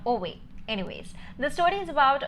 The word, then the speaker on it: Ove: Until I watched the movie, I thought the pronunciation of the name was Ove and not Ove.